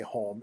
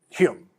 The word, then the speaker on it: Home: The pronunciation, as far as I understand this, the pronunciation of home wasn't what we would say home. It was closer to Hume, right?